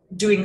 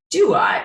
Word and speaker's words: Duat: that came out of their mother and then doing soul hopping or soul tract review of the